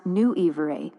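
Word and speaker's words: Nwyfre: The concept at the absolute center of Druidic philosophy is Nuifre, pronounced Nu Ee Vray approximately.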